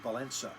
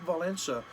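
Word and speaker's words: Wałęsa: of Lakeville essa okay it's actually pronounced with an N valensa okay leg valensa was a steelworker and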